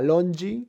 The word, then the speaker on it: Londji: Hay una empresa muy independiente de España que se llama Longi, se escribe Londji, y ellos hacen muchas cosas de papel.